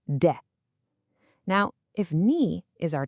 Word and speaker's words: で: Pronounced D.